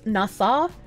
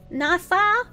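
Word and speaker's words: Nassau: way in the violent way you're local it's pronounced nasau nasau nasau C quasa Nas landlords are a leech on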